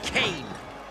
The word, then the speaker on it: Kane: you Nightrunner fight chiro Kane rhymes with pain and Kane will beat